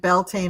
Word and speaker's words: Beltane: Now I don't know if you pronounce it Beltaine or Belain 974 but um I'm just going to say Beltane because that's it reminds me of the word Belta.